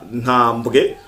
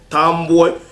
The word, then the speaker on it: Ntambwe: akabazwi ku izina rya Eliezer Ntambwe canke Eliezer Tambwe biravana na prononciation ariko ko canditse ni NTAMBWE Ntambwe Eliezer Tambwe ariko arasensibiliza